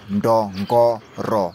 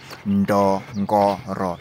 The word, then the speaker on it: Ndongoro: Ndongo, Ndongoro, then RO at the end. So that's the pronunciation, Ndongoro.